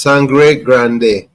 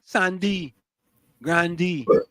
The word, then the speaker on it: Sangre Grande: It's Sangre Grande. How we get D, Sandy Grandy? Well, just people, the twang. Okay. Because them AI people just pronounce it Sangre Grandy. You know what I mean? That's what it is. It is Sangre Grande, which is Spanish for big blood.